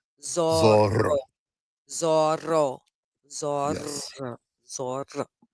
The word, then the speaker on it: Zorro: Now, do did you notice how you definitely heard me roll the R? Yeah. Zoro. It's because in Spanish that word is spelled with two Rs back to back. Gotcha. So, anytime there's two Rs back to back, they definitely want to hear the Zoro.